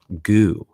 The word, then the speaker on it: goo: community to accept that g double o gary originally owned is pronounced goo one of our community members kyle posted on twitter he said pronounce these out loud moo zoo two now goo it was